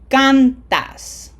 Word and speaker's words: cantas: So this is going to be cantas, as opposed to cantas. We don't want to say cantas, we want to say cantas.